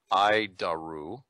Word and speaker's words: ADIRU: data initial reference unit we pronounce it I daru ID daru it's horrible name but